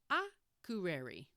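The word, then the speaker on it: Akureyri: I'll do a podcast about this town soon, but for now, just say Akureri. Accent on the first syllable.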